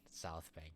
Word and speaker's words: South Bank: It's South South Bank. Not South Bank. That's a That's the damned American pronunciation. South Bank. Not I have to be uh like a real Australian. I have to say it. I have to annunciate the S like I'm a snake. South Bank.